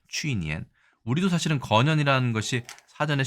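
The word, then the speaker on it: 去年: 물론 작년이라고 해서 주어니엔도 있습니다만 중국에서는 주로 거년이라고 얘기합니다. 취니엔.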